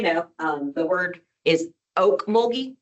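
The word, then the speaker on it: Ocmulgee: And just so you know, um the word is oak moldy, like oak tree.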